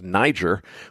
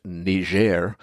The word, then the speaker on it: Niger: ought to be pronounced Niger well that's that's a french-speaking place so it's pronounced ner and uh their situation